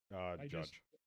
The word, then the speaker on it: Judge: Judd or Judge? I don't know. No, I gotta get it right. If I'm gonna say the guy's name, right? I at least owe it to him to say it right. Come back to me. I'm looking it up. Judge.